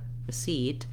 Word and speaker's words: receipt: i want is that seat has a clear vowel and is stressed and then my first syllable receipt is very short and reduced to practice that start with seat and then add your syllable seat receipt that's the same thing